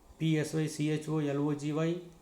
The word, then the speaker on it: psychology: P is silent. PSYCHOLOGY, psychology.